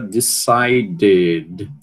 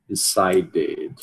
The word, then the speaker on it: decided: Quando termina em the, você tem que adicionar uma sílaba extra, né? Eh, nesse caso aqui da sílaba extra, vai ser realizada decided. Decided. Lembrando, você pode dizer it ou ad, então você pode dizer decided ou então decided, só que o é muito mais comum, né?